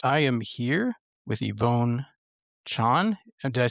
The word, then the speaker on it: Chan: The Chinese pronunciation, Yvonne Chan, okay. yeah, is Jan.